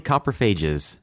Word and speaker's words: Coprophages: how did I pronounce that earlier? War of the Coprophages. Yeah, that's close. War of the Coprophages.